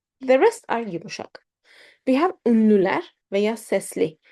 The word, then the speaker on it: yumuşak: Yumuşak.